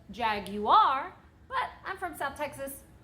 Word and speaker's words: Jaguar: gonna continue saying it I know that you're supposed to properly pronounce it jag you are but I'm from stuff